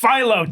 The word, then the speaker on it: phyllo: baklava and it's pronounced phyllo.